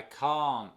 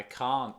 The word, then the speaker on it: can't: I can't talk now. Ni se nota, ni se aprecia el T. Ni lo pronuncio. Vamos. Es decir, se junta aquí con el T. I can talk now. I can't talk now.